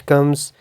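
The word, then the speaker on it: calm: का आ जाता है कि द लेटर एच साइलेंट होगा व्हेन इट कम्स आफ्टर जी यानी जी के बाद एच आता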